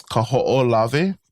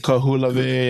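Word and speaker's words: Kahoʻolawe: The longest one is probably the hardest one to pronounce is Kaho'olave. Kaho'olave. Kaho'olave. Yeah, and I hear so many weird pronunciations of this. Kahulave, yeah. Ku'ulavi, So Kaho'olave.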